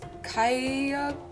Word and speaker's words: 가야금: course the dancing with the, I believe it's Kaay-ya-keum? 카야쿰? 카야-something. I will put the correct pronunciation here.